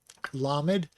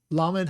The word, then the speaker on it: lamed: Okay, lamed is spelled lamed mem dalet, and the lamed has a kamatz underneath. The mem has a segol. The dalet is the hard D sound because of the dagesh inside. So that is la med, lamed. And it's spelled in English L-A-M-E-D.